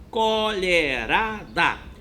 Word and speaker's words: colherada: O som do LH com a letra E faz lher, tá bom?